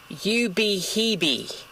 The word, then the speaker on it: Ubehebe: death belly two checked out the crater it's pronounced you be heeby you be heavy you be heebie crater there death belly two checked out the